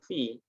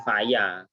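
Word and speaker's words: في: Jadi nanti kalau ketemu susunan fa sama ya itu bacanya ya fi, tidak mungkin faya, tidak mungkin fuyu, nah, tidak mungkin, atau fayu, tidak, ya. Jadi kalau ketemu susunan seperti ini fa dan ya bacanya fi.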